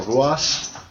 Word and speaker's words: Ruas: Pete Dunne and Arturo, I'm going to screw his name up, Arturo Ruas. I think you said it right. It's R-U-A-S, but he's pronounced it with an H.